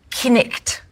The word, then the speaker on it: night: The word night, knicht.